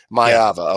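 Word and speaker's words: Maiava: I think their blitz packages could cause um you know the USC quarter I am I pronouncing Mayva right? That's the correct myava.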